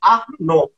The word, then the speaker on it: Arnon: Não, Arnon é mais fácil. Arnon. Né? Então, o nome do Arnon é mais forte.